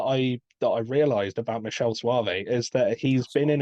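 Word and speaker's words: Michele Soavi: names is by I think is is I pronounced Michael or Mikel slav Suave Michelle Suave Michelle Suave okay thank you for actually saying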